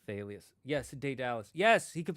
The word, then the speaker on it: Thalia: I never liked saying Thalia's name, because I read it pronounced as Talia with a silent H. Yeah, you would think that's the English pronunciation, but remember, it's a Greek name. I think it's supposed to be Thalius.